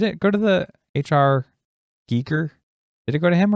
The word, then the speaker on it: Giger: Well, I think Geiger actually... I'm just going to say Geiger because it sounds less weird than Giger, but...